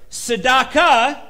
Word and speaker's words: Tzedakah: to humility now remember sadaka is a compound word it's got that ah sound at the end of it um we see this